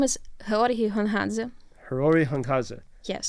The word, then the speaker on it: Georgiy Gongadze: I don't want to mispronounce his name. His name is Georgiy Gongadze.